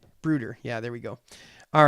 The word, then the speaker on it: Bruder: So you and Bruder is pronounced as a ooh. Bruder. Bruder.